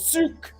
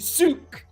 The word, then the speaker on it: Zug: town in Switzerland called Zug, and Zug, spelled Z-U-G, is pronounced much closer to Zug than Zug.